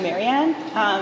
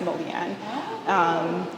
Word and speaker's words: Marianne: And in Cree, there isn't, she was saying that the R isn't pronounced the same way as like people often use an L sound, and that's why it's Molian.